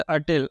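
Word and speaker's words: hotel: होटल यानी कि एक होटल में जाके खाया। यहाँ पे देखिए आप प्रोनाउंसिएशन पे भी ध्यान दीजिएगा, इसे होटल नहीं पढ़ते, इसे अटेल अटेल अटेल पढ़ते हैं, ठीक।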